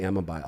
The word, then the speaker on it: Amabile: It's Amabile, but you say Amabai all the time.